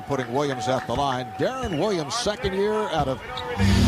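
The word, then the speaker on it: Deron: Williams at the line Darren Williams second year out of Illinois and says his first name is usually mispronounced says the PA guys often introduce him as Duron and he says he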